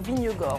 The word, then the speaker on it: Vingegaard: Désormais, on annonce Vingegaard, notamment au départ Vignegor. On prononce même, n'est-ce pas, le vainqueur du dernier Tour de France.